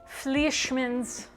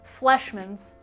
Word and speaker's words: Fleischmann's: Here it is, Fleischmann's. Is that how you say it? Fleischmann's.